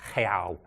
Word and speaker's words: real: We're going to call the money, it looks like real, but in Portuguese, in Brazilian Portuguese, it's pronounced real.